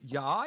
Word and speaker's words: ja: He said ja. You got to pronounce it ya, ya, ya.